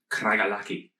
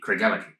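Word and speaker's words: Craigellachie: the same same name as this that is pronounced here kragalaki um but of course uh in scotland would be craig ellick um it is a another 1890s uh distillery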